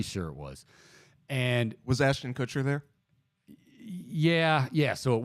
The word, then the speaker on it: Ashton Kutcher: punk the the punked part of it was Austin cutter kept uh sending out um did I say his name right Kutcher Kutcher Ashton Kutcher Ashton Kutcher I'm sorry yeah he's married is